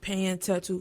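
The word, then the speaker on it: Penyen tèt ou: It's pronounced Penyen tattoo for those that don't read Creole.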